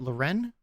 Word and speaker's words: Lauren: Ralph Lauren sneakers why you say like that Loren yeah because that's how you say it and